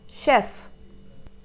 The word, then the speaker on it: chef: word is pronounced as chef the shoe sound for ch how do you pronounce